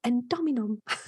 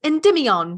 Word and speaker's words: Endymion: I don't know endominum. I really like that one. Endomium leviosa. Oh wait. Oh no, wait. That's not how it is. It says endymion. Endymion. That's it.